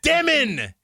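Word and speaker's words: Demin: And then Yegor's like, how to pronounce my name? Dyomen.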